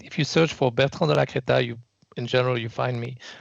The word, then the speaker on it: Delacrétaz: So my last name is Delacrétaz. Oh, That's how you pronounce it in the French-speaking Switzerland. If it was France, you would say Delacrétaz. You would say the ending Z. In Switzerland, we don't.